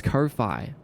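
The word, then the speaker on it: Ko-fi: All you have to do is just just tell people it's Kofi like wifi and that's how it's spelled.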